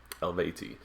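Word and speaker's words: Eluveitie: them i highly check them out their name is spelled e-l-u-v-e-i-t-i-e elvati they're a swiss folk metal band i've seen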